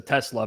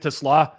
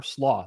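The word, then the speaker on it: TeSlaa: You're pronouncing it like how I pronounce my car which is a Tesla. But Tlaw anytime or sllo like it's kind of like a cole slaw, you know?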